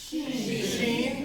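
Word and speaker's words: Shin: But this is sheen. She as in sh as in she.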